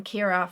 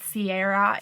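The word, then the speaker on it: Ciara: i've loved the name kira forever it's an irish name some people in america pronounce it sierra female version of kiron it's just a beautiful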